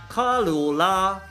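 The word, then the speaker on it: 卡罗拉: Morita:By the way, this is how you pronounce it, kǎ luó lā.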